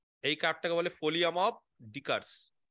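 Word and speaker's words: Descartes: দেখো এট অরিজিন এই কার্ভটাকে বলে ফোলিয়াম অফ ডিকারস ডেসকার্টস অনেকে বলে কিন্তু তো এস এর উচ্চারণটা হয় না ঠিক আছে যাই হোক তো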